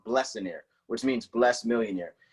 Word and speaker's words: Blessionaire: I hear Blessionaire, but it's actually pronounced Blessionaire, which means blessed millionaire.